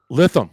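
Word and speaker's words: Lytham: to pronounce this right it's Latham St Anne's right um lithium okay darn it got it wrong but that's why I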